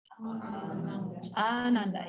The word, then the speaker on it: ananda: And then next, ananda.